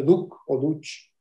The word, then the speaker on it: Duch: Y resulta que este Antonio Duch Planas, no, Antonio Duch se escribe, pero es Duch en catalán, Costa, es el tío